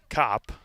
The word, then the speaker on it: Kopp: Number 29, Clara Kopp. Again, I would have said Cope, but Coach Cuso had it on pronunciation guide.